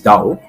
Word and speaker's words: Tao: given by laoz say and Tao actually is being pronounced as Dao and laoce was considered